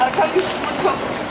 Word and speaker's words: Arkadiusz: Alors la prononciation, nom, prénom, c'est Arkadiusz.